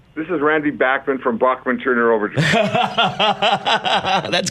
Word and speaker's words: Bachman: Is it true us Americans have been mispronouncing your name for over 50 years? Yes, but you've been mispronouncing everything for 50 years. You heard the song, you say tomato, tomato, potato, potato. Right. Datsun, Dotson, Bachman, Bachman.